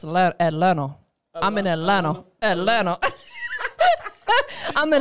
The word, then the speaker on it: Atlanta: You got to learn how to say it right. It's not Atlanta. It's Atlanta.